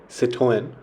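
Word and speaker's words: Citroën: Now, the French automaker Citroen, or as the French people pronounce it, Citroen, have been in the news for the newly launched mass market C3.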